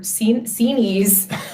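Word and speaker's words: Xinis: I don't think that's not to say that Judge Zenis or Zenis, thank you, Roger, for this is the kind of breaking news you only get at Lawfare.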